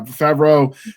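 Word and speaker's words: Favreau: singing uh and then when the director when favro is that how you say his name yeah favro found out she could actually sing he added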